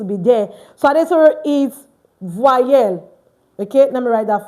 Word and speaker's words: voyelle: Don't include the E before the Y. So Adetoro, it's pronounced voyelle. Okay, everyone, voyelle, voyelle, voyelle.